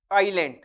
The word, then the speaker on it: island: When we speak doubt that island while we are speaking we are speaking island in pronunciation we are speaking island but actually when we are to write it is I S L A N D Iceland in the same way